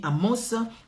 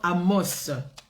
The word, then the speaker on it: Amos: dans le livre d'Amos moi je dis Amos mais euh euh quand nous mettons la lecture ils disent amo nous nous disons Amos voilà parceil y a un S on les prononce vous pouvez le prononcer ou pas amo chapitre 6 malheur